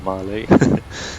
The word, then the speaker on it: Malé: I love how he pronounced Mil instead of Malé.